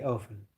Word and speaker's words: often: It's the same with often. I think in the UK you all pronounce the T. The UK population pronounce often, but Americans don't pronounce the T. They say often.